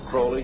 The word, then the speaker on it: Crowley: about was Alistair Crawley he likes to have his name pronounced Crowley to rhyme with holy and uh the Satanist